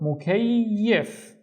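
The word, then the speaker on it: مكيّف: The first syllable is mu, mu. The second syllable is kay, and don't forget to pronounce the e in here, kay. And the third syllable is yif. Now, we haven't seen this letter yet, but just trust me, this is an F.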